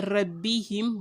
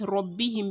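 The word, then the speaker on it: ربهم: wrote him rob him remember is not a rebbe him but robin because raw is a thick later jan two if you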